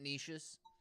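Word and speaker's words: Nietzsche: German yeah is that that's probably not how you pronounce his name I think I think it's like it's some weird pronunciation of it n n i e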